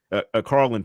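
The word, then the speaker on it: Karlyn: Now they got past Carolyn Pickens. Carlin Pickens, excuse me, I'm saying her name wrong.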